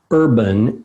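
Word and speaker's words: Herban: that for you because it's not urban like city it's urban like herbal and that is the urban h-e-r-b-a-n the urban alchemist dot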